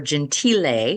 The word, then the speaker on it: Gentile: So I pronounce it Michael Gentile or Gentile. He used to say Gentile.